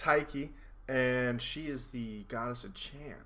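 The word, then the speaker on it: Tyche: today if you don't know cabin 19 is Tai Chi or taiki sorry uh it's just spelled smoke you've been smitted it's over yeah it's it's taiki and she is the goddess of champ yeah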